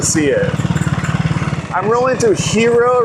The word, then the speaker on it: Hiroo: I'm really into Hiroo right now. Hiroo, h i r o o. It has like two o's at the end.